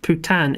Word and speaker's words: Putin: to lee's comment uh they should pronounce that putan in france but they add an e at the end to make it sound more putin i prefer putin who means the same